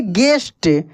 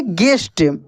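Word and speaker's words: guest: यहां पे लिखा है जी यू ई एस टी इसको पढ़ेंगे गेस्ट क्या पढ़ेंगे गेस्ट यहां पे स्पेशल मींस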